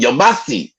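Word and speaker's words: Yamasee: conference on my family the yamasi okay that's how you pronounce it yamasi okay so down there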